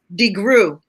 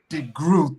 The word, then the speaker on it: DeGruy: go any further dr joy how do you pronounce your last name degree degree thank you i think i was maybe one